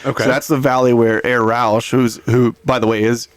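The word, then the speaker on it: Rausch: So wonder if that's the same like is it spelled like Roush? Like R O A C H? It's R A U S C H. Oh like the car company. Yeah. like Rous Mustang basically.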